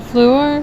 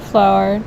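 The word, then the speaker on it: Fluor: near downtown this is called floor field not flower a last name is spelled on this side down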